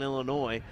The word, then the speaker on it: Illinois: Zach letting me know the S is silent on Illinois well yeah trust me